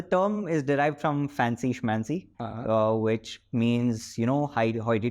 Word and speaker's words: Schmancy: I mean for me it's very difficult to pronounce yes manzi mancy again sorry spell s c h m a n c y s c h m n c y schmancy